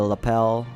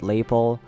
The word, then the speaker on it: lapel: the collar and the lapel also just found out it's pronounced lapel not label it's probably because I